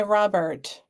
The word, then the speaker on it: Robert: an old original by Robert Rober is actually how you pronounce that everybody it's Rober but the pen is